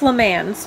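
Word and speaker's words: Le Mans: live in Lamar France which is pronounced lemons but it's lamothe and is the place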